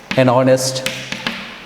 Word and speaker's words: honest: For example, an honor, an honest, an hour, an hour.